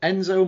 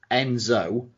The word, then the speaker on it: nZo: ring name would be Enzo and it was spell lowercase n capital Z lowercase o get it right okay get it because it sounds like Enzo but it's spelt differently you say the end